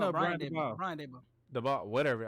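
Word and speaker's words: Daboll: The ball, whatever. How you say his name? The ball.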